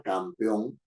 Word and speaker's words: campeón: pronunciación al final de la palabra campeón No es cierto tiene una sílaba que es la final Peón No es cierto en la final que tiene la mayor fuerza de Yo tengo dos sílabas